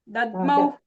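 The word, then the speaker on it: दध्मौ: Dadmau. That half dha is Mahaprana. That also should be heard.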